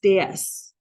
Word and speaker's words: Dais: um our name means raised platform and it's pronounced day d a ye s s DS all right so what is the deas the